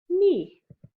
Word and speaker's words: knee: Knee. Which letter is silent? K.